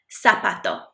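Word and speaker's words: zapato: America and South America it's pronounced like a s not a z not like a buzzy B sound it's just a s sound sapato sapato it's a sound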